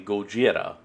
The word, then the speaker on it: Gojira: Well, reason why I'm pointing that out is because as Godzilla's original name pronounced in the Japanese is actually Gojira.